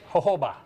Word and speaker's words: jojoba: Okay, jojoba. Jojoba, very good, nice pronunciation.